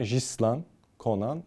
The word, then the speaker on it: Ghislain Konan: Sinan abi ile beraber Öncelikle hemen telaffuz açıklamanızı yapalım fildişinde 77 farklı dil konuşulduğu için samimi ve gerçek bilgi burada 77 farklı değil ana dil Fransızca Ama ben bunu bizzat yayıncı kuruluştan çok sevdiğim değer verdiğim bir spiker abim den direkt bu telaffuzu aldım O yüzden riceman Conan doğru bir telaffuz dur Öncelikle onu söyleyelim bu